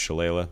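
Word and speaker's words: shillelagh: it uh sounds like shalayla which is a ridiculous it's this is an Irish word but it's pronounced shalayla we'll get to that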